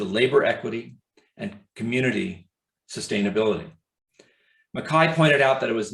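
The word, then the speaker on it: MacKaye: named benton makai m-a-c-k-a-y-e you would pronounce it mckay probably uh intuitively but he pronounced it makai makai was also trained as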